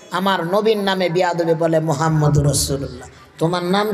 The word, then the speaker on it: মুহাম্মাদুর রাসুলুল্লাহ: মুসলমান পরে মোহাম্মদ মোহাম্মদ আমাদের নবীর নাম মোহাম্মদ না নাম হচ্ছে মুহাম্মাদুর রাসুলুল্লাহ অর্থ আসে প্রশংসিত একজন